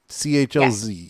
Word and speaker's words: Chlz: Now, did I pronounce the name correctly? Chlz. Yes, Chlz, right?